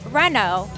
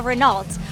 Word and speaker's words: Renault: is one of them this is a Renault Not A Renault what is your least